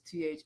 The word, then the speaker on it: Thottapilly: on that story, and Thottapilly family, which is Thottapilly family. So if you see that in the caption, yes, that's how it's spelled.